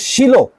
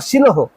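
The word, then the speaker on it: Shiloh: একটা শব্দ দেখতে পাব সেটে বাংলায় আছে শিল আমরা সকলে বলি শিল এই শিলতে কে গিয়েছিল হান্না কিন্তু কিং জেমস ভার্সনে আশ্চর্যজনকভাবে এইটার উচ্চারণ আবার শিলহ খুব খুবই ইন্টারেস্টিং।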